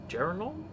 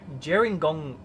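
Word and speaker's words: Gerringong: now coming up on Jing Jer gong jingong I don't know someplace there Jong here warry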